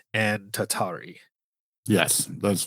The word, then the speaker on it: tatari: And yes, those words were, correct me if I mispronounce them, noroi and tatari.